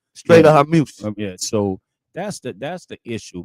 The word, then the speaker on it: Hormuz: And then for the point of the problem is right now, they won't open the Straits of Hormuz.